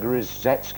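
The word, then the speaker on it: Rusedski: What about Greg Rozetsky? Is that how you say it? Absolutely right. Greg Rozetsky.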